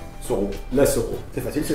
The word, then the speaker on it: Soro: Comment ça se prononce? Soro.